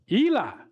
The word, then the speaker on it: Eli: Now, if you look at Matthew, it's pronounced what? Eli. Eli. Okay.